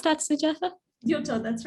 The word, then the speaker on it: Gyuto: Did I mispronounce that, Sujatha? Yoto, that's right.